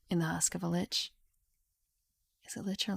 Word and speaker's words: lich: Sorcery and witchcraft lend an ancient spellsmith the power to live forever in the husk of a lich. Is it lich or like? Lick. I say lich.